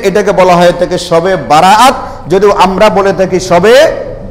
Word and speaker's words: বারাআত: হচ্ছে রাত্রি বরাত শব্দটা বরাত বললেও আসলে এটা আরবি শব্দ মূলত উচ্চারণটা বারাত মানে মুক্তি পাওয়া তাইলে